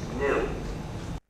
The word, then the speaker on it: gnu: Because, according to the dictionary, the G is silent and it's pronounced new, which of course is a common word.